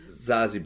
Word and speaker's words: Zazie: And Zoe Betts is Zazie Betts, how you say her name.